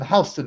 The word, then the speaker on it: Houston: like H bar well do they pronounce Houston hon in America am I tripping because if you got the New York right it's West hon Street it ain't West Houston Street is it Americans Fury